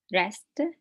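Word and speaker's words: wrist: arm elbow back buttock rest rest the W is silent thigh curve leg chest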